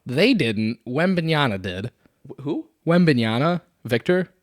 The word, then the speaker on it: Wembanyama: Wembanyama, Victor. It's Wembanyama. Whatever. It's an M.